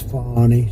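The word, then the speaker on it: Fani: treated you very unfairly she goes by the name of Fon even though it's f a n i she wants to pronounce fny she's little little French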